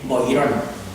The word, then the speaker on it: Boiron: Boiron se escribe B-O-I-R-O-N, Boiron. Pero en francés la O y la E es Boiron.